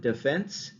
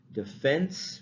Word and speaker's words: defense: We say defense because the stress is on the second syllable, defense, right? Whereas our team has played great defense. We talk about sports, for example, right? In which case the accent is on, or the stress is on the first syllable, and therefore it is the full vowel sound, the E, right?